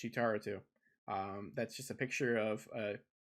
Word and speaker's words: Cheetar02: So if you see me on Twitter at Cheetar02, pronounced Cheetaro2, that's just a picture of me from a few years ago at a Portillo's that opened up in Indianapolis.